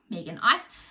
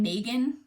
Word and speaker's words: Megan: Megan. In case you don't know, we pronounce the name Megan in Australia.